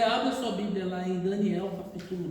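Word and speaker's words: דניאל: A pronúncia em hebraico é Daniel, fecha o L no final, Daniel.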